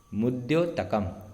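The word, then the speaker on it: मुद्योतकम्: मुद्योतकम, दकम नहीं है, कुछ दकम पढ़ते हैं।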